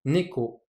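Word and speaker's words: 猫: Par exemple, le chat, en japonais, ça se prononce neko. Donc, vous entendez bien, le nez est plus haut que le ko, neko.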